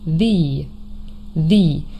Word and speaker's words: the: Remember, sometimes the direct article could also be pronounced the the especially in front of words that start with another vowel sound like for example the evening, the hour.